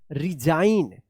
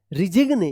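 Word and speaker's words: resign: रिजाइन। रिजिगने या रिसाइन मत पढ़िएगा।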